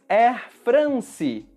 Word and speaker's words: Air France: No Brasil, nós falamos Air France. Palavras que terminam com a letra E em português são pronunciadas com o som de I. Por isso, France.